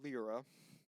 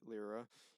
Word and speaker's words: Lyra: a a human Paladin named lra although it's spelled Lyra it's still calling it lra and she is a